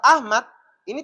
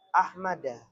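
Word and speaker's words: أحمدَ: Maka lafaz Ahmad ini tidak boleh dibaca ahmadi. Ini keliru. Karena Ahmad itu adalah isim yang tidak boleh bertanwin, maka jarnya nanti larinya ke bawah tanda yang paling bawah. Maka bacanya adalah ahmada.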